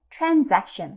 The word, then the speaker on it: transaction: 썼어요 그래서 여기서 중요한게 거래라고 할 때는 transaction 그래서 가즈 발음이 난다는 거 이것도 하나 꼭 체크를